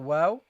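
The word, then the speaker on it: وَ: It starts with the waw and the fatha, which is pronounced as wa. Wa. It is pronounced as wa. Don't make this heavy, guys. Okay, the waw is a light letter and should be kept light in all circumstances.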